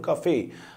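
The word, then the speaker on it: café: يعني اصلها فرنش تمام فانا بقول كافيه حرف الاي في الاخر ما بيتنطق بس في الكلمه دي هنطق عشان الكلمه اصلها فرنش فيلج فيلج قريه اكو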